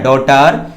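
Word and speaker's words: daughter: यहां पर जी साइलेंट है, यहां हो जाएगा क्या, डॉटर।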